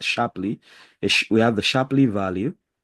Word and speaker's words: Shapley: have the idea of a shiply a Shar I think it's better pronounced sharply we have the sharply